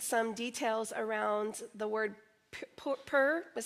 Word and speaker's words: Pur: Rick did read some details around the word Pur, is how you say it, p u r, is a little bit of Jewish information.